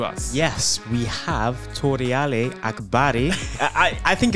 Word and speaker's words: Akbari: Akbari.